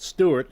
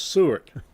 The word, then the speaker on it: Sewart: forgotten all about it really sewart that's not Stewart It's sewart Air Force Base let's say it right seart Air Force Base